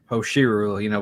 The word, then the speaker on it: Hoshiru: How do you Hosh- pronounce it? Hoshiru.